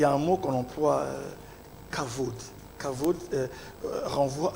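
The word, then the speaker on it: כבוד: Beaucoup de gens disent kavod, Okay. mais c'est par justement, ils lisent la transcription littérale. Exact. Mais le B, là, c'est à la prononciation d'un V.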